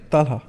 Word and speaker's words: Talha: Talha. Talha. Talha. Talha. The Arabic pronunciation is Talha. It's Talha. Ta lam ha and ha, like Okay. ta marbuta.